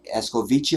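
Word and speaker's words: escovitch: whenever it was um you say is es ko vici or veche escoviche or veche is how it's pronounced jedi it's it's big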